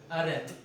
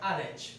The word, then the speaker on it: Arendt: Hoje nós vamos ver o pensamento de Hannah Arendt. Acho que é esse, assim mesmo pronuncia o nome dela. Eu sempre tenho dificuldade, que ela é judia, Arendt. Em hebraico é mais um Haret. Só que trazendo para o português, acho que é Arendt, tá bom?